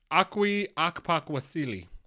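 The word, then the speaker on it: Okwui Okpokwasili: Akwi Akpakwasili.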